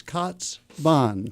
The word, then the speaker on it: Kaatsbaan: it makes perfect sense it gets uh mispronounced but it's cat's Bon cats Bon yeah yes I may